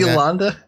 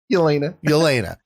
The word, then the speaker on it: Yelena: Like the whole show I've been Did you expecting see Yolanda? Or what's her name? Yelena. Let me make sure I'm saying it right. Yeah, it's Yelena Belova.